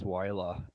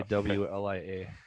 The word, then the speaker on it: WLIA: You know, somebody in our committee says Wyla, and that drives me crazy. I just say WLIA.